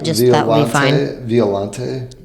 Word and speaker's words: Violante: Or spell it, just that would be fine. Violante.